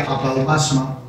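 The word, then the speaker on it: ἀπαύγασμα: Esa palabra es una palabra en griego que se pronuncia apaupasma, el apaupasma de Dios,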